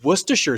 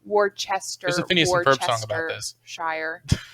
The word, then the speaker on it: Worcestershire: if this gets big enough and say it's worcestershire sauce it's kind of like okay no i'm going to pronounce the letters i'm going to chester shire or whatever shire worcestershire warchester shire it's it's there are too